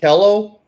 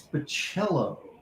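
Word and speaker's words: Bachalo: What are the It's not Bello. You've got like one job, Gary, and you're just horrible at it. It's bachelism. Yeah, it's Bachello.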